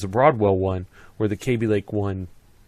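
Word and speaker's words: Kaby Lake: tock to-do and and the to-do is this KB lake or cabbie lake. I everybody pronounces it differently at Intel. I think I've been told that it rhymes with maybe. So, it's KB KB Lake.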